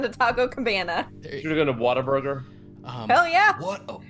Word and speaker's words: Whataburger: what a burger uh what or pronounced correctly Whataburger Water Burger people say Water Burger really like when I was when I was old enough to realize that it wasn't called Water Burger I was so mad